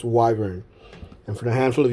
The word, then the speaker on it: wyvern: well i always called it in my mind wyvern i've always said this word wyvern but i checked google before turning this on and it's apparently pronounced wyvern and for the handful of you out there